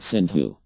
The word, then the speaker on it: Sindhu: You know that there is a river, Indus, which in Sanskrit is called Sindhu. The Mohammedans pronounce S as H. Instead of Sindhu, they made it Hindu.